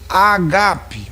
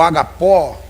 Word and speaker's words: agape: e aí entra aquele amor agap ou agapó como você queira pronunciar que é aquele amor mais